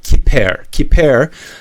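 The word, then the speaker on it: כפר: So pronounce it kiper.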